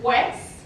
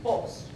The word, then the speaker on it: pues: So for example, we take the word pues, well, it could sound kind of like pues, or even pos.